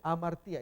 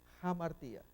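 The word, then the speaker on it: ἁμαρτία: Pero cuando está el rudo, como en este caso, jamartía, ahí sí. Acá no se dice amartía, es jamartía. Paso agarrando un poquito más quizás, para que se aprecie mejor.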